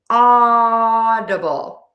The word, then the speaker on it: audible: Stress the A. open ovalshaped mouth for that audible. Audible. And also here I'm using that flap T which sounds like a super fast D. And then be sure to end with that bull.